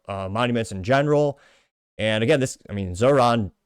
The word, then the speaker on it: Zohran: And again, Zohran did, or Zohan, because I think it's funnier to mispronounce it that way.